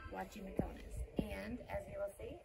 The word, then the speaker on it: Guachimontones: We are here at Guachimontones. Guachimontones. I'm not doing very good at pronouncing it. But as you can see, here is how you spell it. It's actually pronounced with a W, Guachimontones.